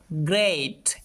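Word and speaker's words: great: এটাকে আমরা উচ্চারণ করব। গ্রেট। এখানে ই এ দুইটা যুক্ত ভাওয়েল মিলে এই সাউন্ড দিয়ে থাকে। গ্রেট মানে দুর্দান্ত। খেয়াল করো এখানে কিন্তু আর ই সাউন্ড করছি না। এই সাউন্ড করছি।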